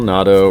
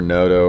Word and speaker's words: Noto: speaking of art phil nado or noto or nato or or nutella or however you say his name i think it's natto phil noto phil noto n-o-t-o